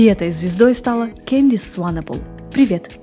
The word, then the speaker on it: Swanepoel: Ее верное произношение Сванепл, не Свейнпл, как то пытается донести русскоязычная Википедия. Не Свенпл, не Сванпл, а именно Сванепл. У Кэндис всегда были проблемы с тем, как произносят ее фамилию. Она часто использует как пример сочетание слов «лебедь в бассейне». Swan и Nepal.